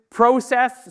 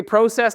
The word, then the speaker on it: process: it's a noun yes if it's a verb it's process probably the same in